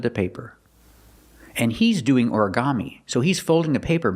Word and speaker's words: origami: This is a Japanese word, but we have an American pronunciation. Ora, origami. 4 syllables. Origami. Put the stress on the first syllable and the third syllable.